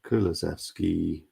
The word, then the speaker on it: Kulusevski: wish to be slaughtered because I've spelt the name wrong. I'm saying Kulusevski.